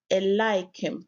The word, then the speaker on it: Eliakim: Eliakim, pronounced Eliakim, meaning in modern Hebrew, God raises or God sets up.